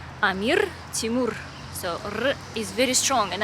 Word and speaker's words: Amir Timur: like words amir timur when you have r in english you do not pronounce r that strongly and in russian and uzbek language as well if you see r you need to say very strongly and that's definitely going to be correct like amir timur so